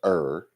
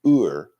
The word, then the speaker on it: Ur: are is not pronounced ER it's Ur and you can roll your R if you want to that's made them all